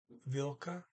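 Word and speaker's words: hvilke: in front of it h is silent unvilka so builda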